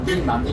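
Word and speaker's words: 南京: 그 주원장이라는 사람이 몽고 사람들을 다 밀어내버리고 그리고 명나라를 건립을 하면서 수도가 북경이 아니고 어느 쪽이냐면요 우리말로 남경이라고 표현을 합니다. 중국말로 난징 이렇게 발음을 하는데 거기에서 세력이 제일 컸던 사람이 누구냐면은 바로 북경을 지키고 있던 주체라는 사람입니다.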